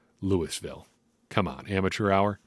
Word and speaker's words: Louisville: Yasir Abdullah out of Louisville Louisville Louisville come on Amateur hour don't pronounce the S Louisville anyway six foot